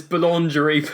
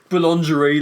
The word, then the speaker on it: boulangerie: Boulangerie like lingerie.